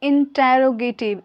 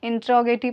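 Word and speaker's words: interrogative: Okay, सो यहाँ पे मैंने लिखा है, इसको याद रखिए, पढ़ना है इंटेरोगेटिव। इंटेरोगेटिव, आप गूगल पे जाइए, सर्च कीजिए प्रोनाउंसिएशन ऑफ इंटेरोगेटिव, तो इंट्रोगेटिव पढ़िएगा, वो भी आएगा, पर इंटेरोगेटिव।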